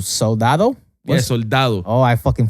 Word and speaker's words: Soldado: Yeah, Soldado. Oh, I fucking pronounced it right.